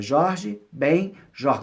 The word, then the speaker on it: Jorge Ben Jor: é junto da gente Jorge Ben Jor como se fossem dois sobrenomes pessoas costumam juntar mas não és muito mais separado então quando ele colocou